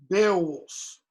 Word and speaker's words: Beowulf: one syllable for example the old english heroic warrior beowulf b-e-o-w-u-l-f bill bill it's one cent it's one syllable you're moving you're starting